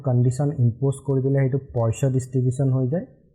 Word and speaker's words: Poisson: It is pronounced as Poisson.